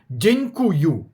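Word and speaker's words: dziękuję: Так само як дякую. Дякую пишеться польською мовою дякую. дякую. А ми вимовляємо днькую.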